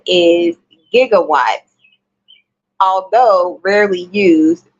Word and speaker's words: gigawatt: the correct spelling is gigawatt although rarely used the J sound at the beginning of the SI prefix Giga is an acceptable pronunciation later versions of closed